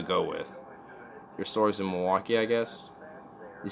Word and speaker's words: Milwaukee: It's not that way. It's just Milwaukee. It's just like Milwaukee, Wisconsin, Milwaukee, Oregon. It's just the same thing. Don't add that awful way of pronouncing it like I did.